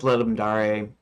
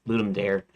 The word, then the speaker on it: Ludum Dare: dev channel, and then it's pronounced Ludum Dare, I think, um, like proper Latin pronunciation, but sometimes I call it Ludum Dare, just because it's just the way it looks to me.